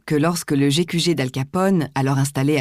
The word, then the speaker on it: Capone: Tout récemment, il faisait annoncer par la TSF que le E muet de son nom ne devait pas être prononcé et que par conséquent, il ne fallait pas le nommer Caponi, comme le faisait à tort le public, mais Capone, ainsi que nous prononçons ce nom en français.